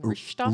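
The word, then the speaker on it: rijsttafel: and you emailed me, which I'm not going to pretend that I'm pronouncing this correctly, but it's like rishtafel, Rishtafel, yes.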